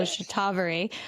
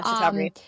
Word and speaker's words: Shatavari: I didn't know how I was saying Shatavari, so I'm glad I heard you say the proper pronunciation. So Shatavari. Yeah, Shatavari.